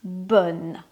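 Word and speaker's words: bonne: So the adjective bon masculine becomes bun feminine. Okay. The pronunciation is not the same.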